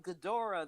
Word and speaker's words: Ghidorah: kong i've watched and this can be pronounced any number of ways that brent brandon tencott said on one of his episodes gadora getaway guy whatever but i call it ghidorah the three-headed monster that's how i know it is ghidorah yes yeah but in